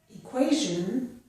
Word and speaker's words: equation: In this word, equation, the TI sounds like j.